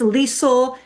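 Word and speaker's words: Liesl: My name is Lisel. It rhymes with diesel if that helps you.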